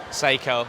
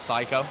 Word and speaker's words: Seiko: He's also one of the owners, the masterminds behind Mad Asian, Seiko, because apparently I've been saying it wrong. It's Psycho. Psycho. Psycho is the Japanese way.